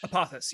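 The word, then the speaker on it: Apophis: they're going to a new asteroid named uh apopha fish how do you pronounce that apothis yes yes and this is a well-known asteroid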